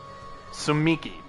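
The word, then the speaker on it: Tsumiki: Sumiki. The T is silent, Kneale. You gotta be shitting me.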